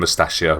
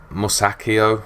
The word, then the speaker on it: Musacchio: I may have overpaid mustachio or I call him mustachio but Musacchio I think it's pronounced but I'm getting in